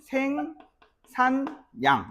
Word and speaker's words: 생산량: 생산량 같은 경우에는 생 산양 이런 식으로 맞아요.